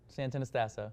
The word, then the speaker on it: Santonastasso: His name is Nick Santonastasso. Did I say it right, Nick? Santonastasso. So tired for me. I can't pronounce orange on this show.